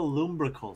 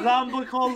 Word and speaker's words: lumbrical: For everyone that wants to know how to say this, it's called the lumbrical stretch.